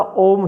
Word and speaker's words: ओम: उसमें ओ 1, उ 2 और म 3, यानी कि म का स्वर ज्यादा चलना चाहिए।